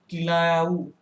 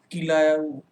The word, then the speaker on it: Kilauea: उसका नाम आप नोट कर लीजिए, किलायाऊ। यहीं पर है, मतलब हवाईयन द्वीप में ही। स्पेलिंग इसकी आप लिख सकते हैं, मैं यहाँ लिख दे रहा हूँ, KILAUEA, किलायाऊ।